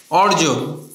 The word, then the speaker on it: অর্জন: দত্ত করবা না কারণ আমি যখন উচ্চারণ করছি অর্জন তখন কিন্তু আমার উচ্চারণটা এরকম হচ্ছে অর জন গর্জনের ক্ষেত্রে একই রকম। তো এখানে কিন্তু দুইটা জর উচ্চারণ আসছে না।